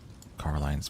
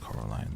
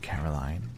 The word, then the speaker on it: Coraline: told Coraline the first time she met her. "You see, Caroline, Miss said, getting Coraline's name wrong.